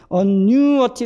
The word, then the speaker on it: annuity: 1B를 보면은 annuity 이렇게 발음이 돼요. 그래서 아까 얘기했듯이 ITY 같은 경우 그 앞에 강세가 주어진다 그랬죠? 그러니까 annu의 강세가 주어지는 거.